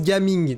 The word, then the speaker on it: Gaming: Alors, ça se prononce Gaming, tu vois, c'est un prénom chinois.